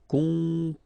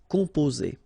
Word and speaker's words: composer: Okay, O and M together, after that a consonant, so it's the nasal on. Composer. Okay, you pronounce it Z here because you've got two vowels and only one S.